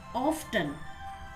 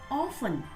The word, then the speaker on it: often: Generally, people pronounce it as often, but it's not often. The correct pronunciation of this word is often.